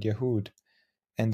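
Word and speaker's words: יהודה: in the Hebrew language to the Arabic word yehud and that is the for the word Judah now if you notice it's pronounced in Hebrew Yehuda it sounds very similar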